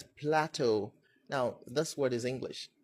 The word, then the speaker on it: Plateau: And then the other word, it's not Plateau, it's Plateau. Now, this word is English, so it's, I don't know why. I mean, I don't know why people call it Plateau.